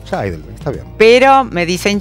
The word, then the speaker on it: Scheidl: Imagino, cuando vivía mi papá, se ponía loco, ahora me da igual, mi apellido se pronuncia Scheidel. Scheidel, está bien. Pero me dicen, es, Shil, Shil, bueno, no importa.